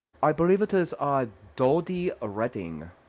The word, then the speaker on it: Dodie: Are you also Katie's friend, Doodle Padding? I don't know if I pronounce it right. I believe it is Dodie Redding. Right, Jody Dodie, Redding. right? Like Jodie, right? So it's Dodie and then Redding, right?